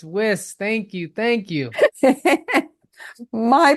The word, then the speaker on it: Wiss: gonna get this wrong whis you got it thank you I got nervous for a minute so many people get my last name wrong it's whis thank you thank you